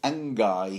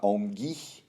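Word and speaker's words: Anguy: So the singer goes, look, boy, put down the sword, or Angai here. That's the archer's name, yeah? Angai. Unless you want to pronounce it sort of like French, start Ongi.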